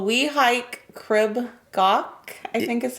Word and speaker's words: Crib Goch: we're close crib gaw I don't know how pronounced the C and the H are at the end of gawk but I know it's not gotch I do know that